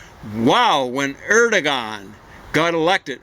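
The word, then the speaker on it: Erdoğan: uh things like that i gather you're supposed to just leave the geo but i've heard other things where you say kind of like maybe like the french uh are but uh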